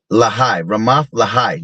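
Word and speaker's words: Ramath-lehi: Ramath Lehi. That's how you say it, Salakia.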